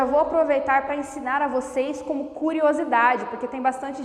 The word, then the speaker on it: você: proparoxítona chame a palavra quando eu falo por exemplo você eu prolongo a sílaba sei então eu sei que ela é tônica isso ajuda bastante na